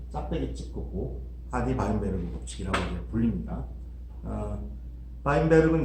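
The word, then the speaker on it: Weinberg: 바인베르그는 이제 독일어를 읽어서 그런데 영어로는 이제 와인버그라고 많이 또 발음합니다. 주로 영어 쓰는 나라에서는 하디-와인버그 법칙이라고 하는데 원래대로 걔네들이 부르는 이름으로 해주는 게 맞죠. 그러면은 하디-바인베르크 법칙이 맞습니다. 자, 그래서 하디-바인베르그 법칙이 성립하려면 전제가 있습니다.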